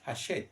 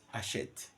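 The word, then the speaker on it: Hachette: cins and again Oxford haset haset you know H is never aspirate in French so we write it we don't pronounce it ashet Oxford AET dictionary these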